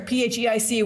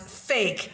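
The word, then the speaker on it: PHEIC: Emergency of international concern phic which I think is appropriately pronounced fake so you know when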